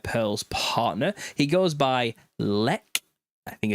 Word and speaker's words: Xlec: His artist name is Xlec, but it's pronounced Lec.